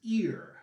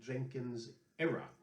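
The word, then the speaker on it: Jenkins' Ear: It's a set called the War of Jenkins Ear. Some people also mispronounce this, saying the War of Jenkins Era.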